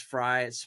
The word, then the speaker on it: Frey: Totally grateful it's Friday because my last name is Fry. It looks like Frey, but it's spelled Frey, right?